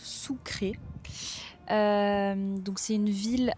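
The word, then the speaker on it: Sucre: Donc nous arrivons maintenant à Sucré qu'on prononce Sucré.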